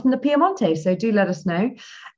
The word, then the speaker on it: Piemonte: from the Piedmont region, or Piemonte, I should say, really, the Italian pronunciation.